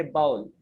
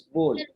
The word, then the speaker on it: bowl: Okay, don't say bowl. The correct pronunciation is bowl.